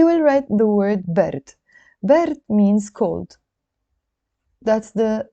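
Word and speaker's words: برد: Bard means cold. That's the pronunciation, bard.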